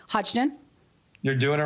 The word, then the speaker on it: Hodgdon: much for being here today i hope i'm pronouncing your last name right hodgdon you're doing it right lydian yes and he